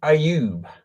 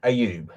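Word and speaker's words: Ayoub: Dan Aub, I believe his name is pronounced. I'm not entirely sure. A Y O U B.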